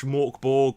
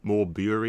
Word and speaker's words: Mörk Borg: Well, Mörk Borg / MORK Borg, occasionally known as Mörk Borg or More Bury or whatever the fuck. I've heard some weird pronunciations of this.